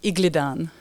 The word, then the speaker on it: Iglidan: last name again my my last name is Igan yeah I feel like I say it